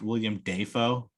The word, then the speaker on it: Willem Dafoe: Willem Dafoe. You know his name is actually pronounced William Dafoe.